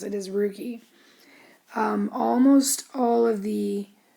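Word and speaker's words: rugae: funny word but that's what that's how you pronounce it is rookie um almost all of the GI tract is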